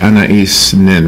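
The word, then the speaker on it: Anaïs Nin: Anais Nin, right? You did it. That was perfect. I never get umlauts right. There's an umlaut over the I.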